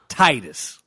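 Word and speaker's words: Tidus: just for you I'mma say his name correctly Titus o if you play Fantasy 10 correctly if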